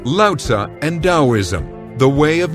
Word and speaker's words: Lao Tzu: Similarly, Lao Tzu used to be spelled with a TZU at the end, and now it's a ZI at the end. In both cases, the Chinese character hasn't changed, the pronunciation hasn't changed, it's just a different way of rendering that sound into English letters, into the alphabet. So it's Daoism and Lao Tzu.